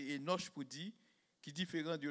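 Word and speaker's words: Hénoch: petit garçon et noche pour bien prononcer ça c'est éoche pour dit qui différent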